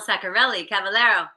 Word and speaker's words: Saccarelli-Cavallaro: Saccarelli-Cavallaro.